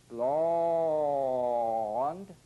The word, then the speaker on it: long: as you can ah-ah-ah the opening will change from an oval shape to one a bit more rectangular think only of the maximal forward stretch and the laws is possible opening Oh long commonly mispronounced and he had long